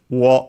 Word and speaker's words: を: Then we have the object particle o, written as wo and pronounced as such in careful speech and also singing.